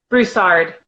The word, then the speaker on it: Broussard: or correct me by Meredith Bruce or is that how you pronounce that Broussard Broussard okay and then automating inequality